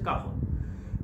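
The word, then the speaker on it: cajón: কাহন আমরা যদি গুগলে সার্চ করি তাহলে বানানটা অবশ্য CAJON কাজনের মতো করে লিখতে হয়, কিন্তু এর উচ্চারণ হচ্ছে কাহন।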